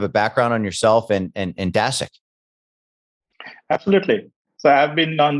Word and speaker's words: Dasceq: Is that Dasceq? Did I pronounce that right? Dasceq.